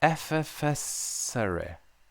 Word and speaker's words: effervescere: It stems from the Latin word, here we go, effervescere.